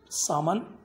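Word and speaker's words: salmon: सो writer हम यहाँ पे बोल रहे कि इन दैट रेस्टोरेंट्स कुछ साल पहले वो सामान एल साइलेंट दैट सामान वॉज नॉट in their menu list in that menu card but आई आस्क the waiter if there was एनी.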